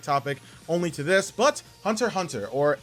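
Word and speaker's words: Hunter × Hunter: only to this but hunter hunter or Hunter x Hunter for some of you who pronounce the X I personally don't but hunter hunter has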